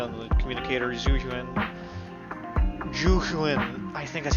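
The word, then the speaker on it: Zhu: Juin, I think that's how you say it. It's not Zoo, it's Ju. Like Juju on that beat.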